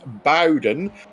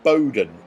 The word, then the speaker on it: Bowden: clyde is right um it is pronounced bowden and not bowdoin so uh next person